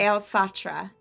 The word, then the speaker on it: Eilsatra: I pronounced it Nice. Elsatra.